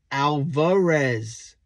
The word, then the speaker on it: Alvarez: tomorrow for opening day so it's Alvarez vares not ver res not Alcatraz or anything along those lines it's spelled v-a-r-e-z not